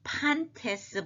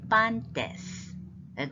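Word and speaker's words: πάντες: 다음 단어가 반때스 반테스 발음을 판 하면은 이게 퍼하고 구별을 하려면 이거를 제대로 해야 되거든요 그러니까 참 목이 아파요 목이 아파도 바르면 해야 되지만 그 영어 설명서에 클린티 또는 클린 피 이것처럼 그러니까 헛소리가 없는 발음으로 아예 딱 차별화 하는게 좋을 것 같아서 판테스 보다는 판테스 이렇게 하는게 더 좋겠어요 판때스 거진 된소리에 다 가깝죠 판타스 이걸 우리가 앞에서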